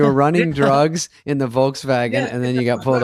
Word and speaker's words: Volkswagen: What you guys say, it's really Volkswagen. Yeah, okay? Everyone's saying it wrong.